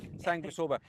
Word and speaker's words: Sanguisorba: But Stephen, before we go and meet Matt to talk more about say it again. Sanguisorba. Sanguisorba. I get the missing syllable out. Sanguisorba.